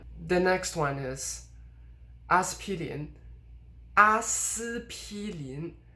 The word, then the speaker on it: 阿司匹林: The next one is 阿司匹林. 阿司匹林. The s should be first tone, but actually it's de-stressed, and it actually goes even further than that.